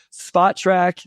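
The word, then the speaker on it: Spotrac: I said it right this time. So everybody that yelled at me and Wes on Twitter about saying it incorrectly, Spot Track. Thank you, Keith, for correcting me there.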